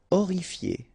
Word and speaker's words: horrifié: Horrifié. same thing here, you don't pronounce the H, horrifié.